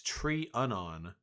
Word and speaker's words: Trianon: You pronounce my name differently every time. It's Tree Unon. Emphasis on the first syllable.